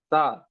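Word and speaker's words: ث: Moving towards the fourth word, which is sa. Sa has to be pronounced when this part of the tongue that strikes to the uh, front of the front two teeth.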